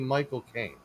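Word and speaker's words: Michael Caine: And the way that you do the correct pronunciation is if you say the word cocaine, but it belongs to you.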